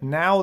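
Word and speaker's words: Naau: a look at that that's called now the last i it's spelled n-a-a-u the lost eye it's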